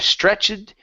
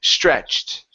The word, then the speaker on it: stretched: the word stretched okay Ed ending instead of stretched the word is stretched stretched okay good so